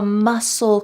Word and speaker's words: muscle: hurts to walk a muscle cramp notice that the c in the word muscle is